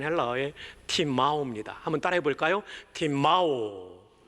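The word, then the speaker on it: τιμάω: 팀마오. 예, 맨 마지막에 W는 W가 아니고 장모음 O의 발음을 내는 오메가의 소문자입니다. 대문자는 이렇게 되고요. 저건 소문자예요. 자, 그래서 길게 한번 발음해 봅시다. 팀마오.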